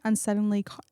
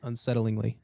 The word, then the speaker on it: unsettlingly: Searchers described her as eerily unsettlely unsettlely unsettlely How do you say that word? Unsettlingly.